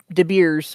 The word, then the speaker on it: De Beers: De It's spelled Beers. like De Beers.